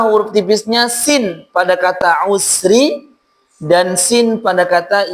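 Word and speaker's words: العسر: Sin pada kata usri dan sin pada kata yusra.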